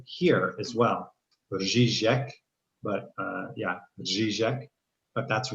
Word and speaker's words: řízek: And then in Czech, there's this word řízek. And it's this rolling R with the j on top of it.